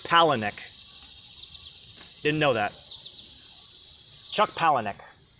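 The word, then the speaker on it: Palahniuk: palahnuk palanek Chuck palahnik I just learned how to say his last name the other day I've been reading the guy for years I polonic no it's Pala Nick didn't know that Chuck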